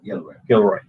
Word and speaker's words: Gilroy: Did I pronounce that right? Yeah, Gilroy.